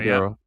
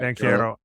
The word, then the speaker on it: Banchero: I have no fault about is it Banchero or I mess up the pronunciation? Banchero, yeah. Banchero.